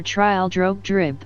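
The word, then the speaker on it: Trildrogdrib: It contained a warrant for conducting me and my retinue to troll drag dub or trial drog dribb for it is pronounced both ways as near as I can remember by a party of 10 horse.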